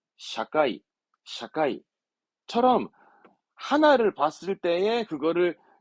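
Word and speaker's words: 社会: 더 있어요 그렇지 회사를 거꾸로 읽으면 사회잖아요 사회 발음은 샤카이 사카이처럼 하나를 봤을 때에 그거를 이렇게 뭔가 지금처럼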